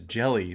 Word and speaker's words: Hjelle: He's like slender, and his last name is Jelly, but it's spelled with an H and a J.